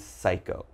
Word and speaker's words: psycho: So all right, if you ever see these words in something you're reading, just remember there's a silent P when the word begins with P and is followed by a consonant.